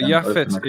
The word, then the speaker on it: Japheth: So may he sort of spread out, become broad, and so Yafet is the land. name that we normally pronounce as Japheth, right?